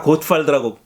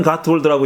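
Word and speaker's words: Gottwald: 이분의 이름이 알려졌을 때는 다 고트발드라고, 노만 고트발드라고 읽었어요. 이게 독일식으로 읽은 거죠. 아마 뭐 이름 자체는 독일 계통의 이름이죠. 그런데 뭐 노만 가트월드라고 읽더라고요.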